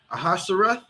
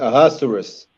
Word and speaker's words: Ahasuerus: Let me pronounce his name. Ahasuerus.